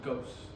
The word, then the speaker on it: Ghaos: It's just pronounced. It's very simple. It's like ghost with no T, so just ghost.